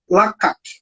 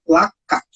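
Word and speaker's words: לקח: A palavra hebraica traduzida para tomou foi lakak. Está escrito lakash, mas a pronúncia dessa palavra é lakak, que literalmente significa arrebatar ou capturar.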